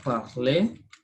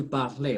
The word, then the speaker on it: parle: So you don't say je parlais, okay? Je parle français.